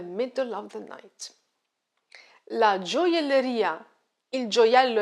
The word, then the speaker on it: gioielleria: And now gioielleria, gioielleria, gioielleria. The stress is on the last syllable, ria.